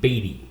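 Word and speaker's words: Beaty: And your last name is spelled B E A T Y. Batty. Yes, sir.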